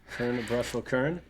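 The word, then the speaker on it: Kuurne-Brussel-Kuurne: I'll let KS pronounce that one out loud. Kern of Brussels Kern.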